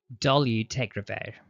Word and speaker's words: dolutegravir: Dolutegravir. Let's break that down together. Repeat after me. Do, liu, teg, ra, vir. Notice the emphasis is on the third and fifth syllable. Dolu, teg, ra, vir.